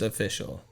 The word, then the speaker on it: Aafficial: Aafficial. It's pronounced official, but if you don't type With an A.